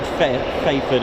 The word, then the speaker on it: Fairford: Yeah, I think it's cuz you don't really pronounce don't pronounce the R in fair.